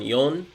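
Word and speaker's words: よん: So with the number 4, it's pronounced 2 ways. So ichi-ni-san yon is how you usually say it. However, you can also say shi, which also means death.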